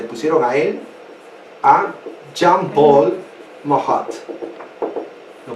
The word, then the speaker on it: Marat: nombre que le pusieron a él, a Jean-Paul Marat. Lo pronuncia como Marat, ¿no?